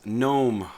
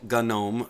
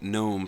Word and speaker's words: GNOME: desktop environment we're going to talk about is gnome also called Gunn gnome by some people in the community I have been calling it gnome for 20 years so that's the way I